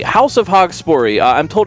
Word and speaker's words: Haugspori: The level is pronounced Haugspori, House of Haugspori.